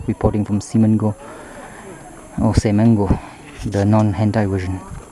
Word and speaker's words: Semenggoh: this is songo reporting from simong go oh seango the non-ai version pronunciation see you bye-bye